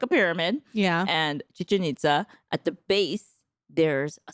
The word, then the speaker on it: Chichen Itza: Chichen Itza? Exactly. Oh, Chichen Itza. Okay. Chichen Itza. I didn't know how to pronounce it, so I was going to put the burden on you.